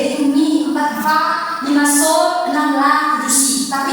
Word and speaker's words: sol: Terus re terus mi terus fa sol la si.